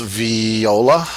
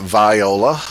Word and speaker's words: viola: It is pronounced viola, not viola. People with the name that's spelled identically are usually called viola.